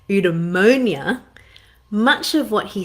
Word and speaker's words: eudaimonia: different name see if i can get the pronunciation right right eudaimonia much of what he said is still relevant